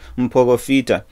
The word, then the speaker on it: mporofita: That's the word that we use, or you hear mporofita. That's what, as in Shona, that's how we pronounce it.